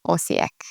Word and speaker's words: Osijek: Probably Osijek when you first saw it, maybe. Actually, as you may know now, the J sounds like a Y, so it's Osijek.